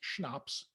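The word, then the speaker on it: CHNOPS: It's pronounced schnapps, lecture.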